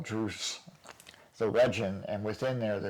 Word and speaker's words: Druss: Well, so you put this, how do you pronounce it? Do you say Druce or Druss? Druce, D-R-U-S-S, Druce the Legend.